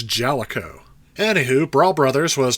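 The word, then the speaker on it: Jaleco: you hear that I finally know how to pronounce this it's jalo anywh who brawl Brothers was developed and published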